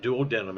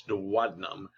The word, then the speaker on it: duodenum: lesser curvature the duodenum and that's how that's pronounced is not duodenum it's duodenum is the first section of the small intestine